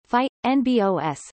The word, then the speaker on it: fynbos: fynbos Afrikaans pronunciation phi n BOS meaning fine leaved plants